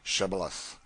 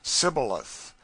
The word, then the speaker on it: shibboleth: who could not say shibboleth the ephraim might being of a different tribe could not frame to pronounce the word right but called it sybileth which proved them enemies